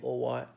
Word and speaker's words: all right: things like that but if you're a cockney that's a working-class Londoner pronouncing a ball right or why the are turns into a W and the Double L disappears already so all right becoming or why so remember reading midnight